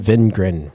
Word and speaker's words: Wingren: Wingren, Venrren, Venrren. There you go. German pronunciation.